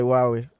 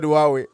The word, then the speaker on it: Huawei: In the comment section, people are just talking about Huawei. It is Huawei, not Huawei. Come on, guys. It's Huawei. It's Huawei. There's no H when you're pronouncing these names.